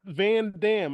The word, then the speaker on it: Van Damme: It's not Van Damme. I don't know why people keep saying that. It's pronounced Van Damme. You have to say it that way.